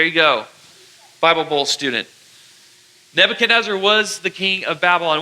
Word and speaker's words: Nebuchadnezzar: a crazy king called Nebuchadnezzar. Everybody say that with me. 1, 2, 3. Nebuchadnezzar. Nebuchadnezzar. Nebuchadnezzar. It's that long name that's like a Nebuchadnezzar 5-syllable word. It's not every day you say 5-syllable words, but Nebuchadnezzar.